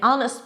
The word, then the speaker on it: honest: If the H is silent and dropped, then it should be preceded with an an hour, an honest person, and it's an honor.